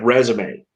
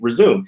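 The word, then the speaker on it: résumé: saying it um from from french uh and and you'll get some of these like resume you there's no way you would pronounce that word that way if it were an english word it would be resume in fact there is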